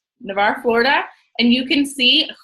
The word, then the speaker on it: Navarre: how do you say that Navarre you say Navarre Florida and you can see who is in